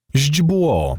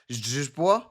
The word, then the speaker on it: źdźbło: Źdźbło, Oh, a grass stalk. okay. I can certainly understand why this one is difficult to pronounce. Ź is a ź sound.